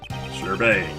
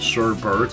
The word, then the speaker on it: sherbet: Okay, it seems like the general consensus is sherbet, although some people announce it sherbert, and apparently a lot of people find that annoying.